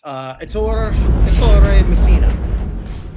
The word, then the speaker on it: Ettore Messina: So our international one that we're going to be talking about today, I don't even know if I'm pronouncing this right. Probably not. Ettore Messina. Ettore Messina?